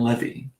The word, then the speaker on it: Levy: Y'all are saying levy. Okay, Dan Levy. Okay, I'll say it right. Dan Levy. Levy. Like a levy, like to hold the water back.